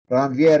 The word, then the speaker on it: Ranvier: called those of ramvier ranvier is is a french scientist so whoever likes to